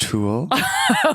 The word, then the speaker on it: tulle: So it's gonna go ahead and be pronounced tulle.